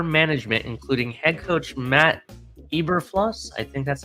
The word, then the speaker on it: Eberflus: informed Chicago's upper management, including head coach Matt Eberflus. I think that's how you pronounce it. You non-German people. It's Eberflus.